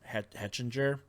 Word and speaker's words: Hechinger: Hechinger, I believe is how you say his name.